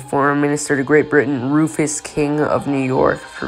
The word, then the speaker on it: Rufus: Minister to Great Britain, Rufus King of New York, for vice president. I've been made aware that it's pronounced Rufus and not Ruffus, so I apologize for mispronouncing it in my last video.